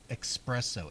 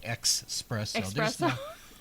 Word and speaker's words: espresso: to end up abbreviated as Etc period but pronounced Etc there is no X to be found anywhere it's like e espresso expresso I I get that drives me crazy that's